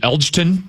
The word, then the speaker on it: Elgton: Interior offensive line, is it Elgton Jenkins? Elton Jenkins. It's Elton with a silent G? I believe so.